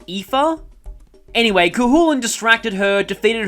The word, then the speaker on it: Aoife: Chronicles is any indication, this name is pronounced Aoife.